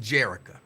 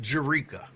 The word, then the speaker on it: Jerika: You keep telling people your name is pronounced Jerica. I have it on good authority that your name is pronounced Jerika. So in case you did not know, with your souse meat eat ass, your name is pronounced Jerika. Stop trying to convince people that it's Jerica.